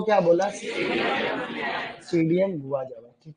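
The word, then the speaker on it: Psidium: सीडियम गुआ जावा, ठीक है। बहुत बढ़िया। सीजीजियम क्यूमिनाई रे, सीजीजियम क्यूमिनाई। एक्चुअली सीडियम जो लिखते हैं, सीडियम, उसमें पी साइलेंट रहता है, ऐसे लिखते हैं।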